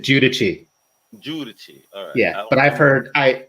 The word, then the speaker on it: Guidici: a tough one i i pronounce it judici yeah but i've heard